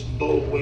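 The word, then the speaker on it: Boulware: Yeah, I spell It's Bowler is how it looks. B-O-U-L-W-A-R-E. Ken, Charlie Bowler, born?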